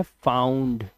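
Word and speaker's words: found: फाउंड या वांड पता नहीं क्या-क्या पढ़ेगा इसको। लेकिन ये वर्ड है फाउंड। क्या वर्ड है? फाउंड। ठीक है? यह है राउंड। औ की आवाज है ना कि उआ की। उवा की नहीं ओ की नहीं आउ।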